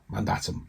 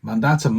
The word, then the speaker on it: mandatum: The word comes from, hang on, let me try and pronounce this now. It's a Latin word. Mandatum, there we go. Meaning commandment. Mandatum, mandate.